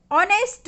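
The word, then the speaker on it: honest: Number 20, ऑनेस्ट मैन। ऑनेस्ट, एच कैसा है यहाँ पर, साइलेंट है, इसलिए कौन सा आर्टिकल आएगा, एन आर्टिकल का यूज होगा यहाँ पर।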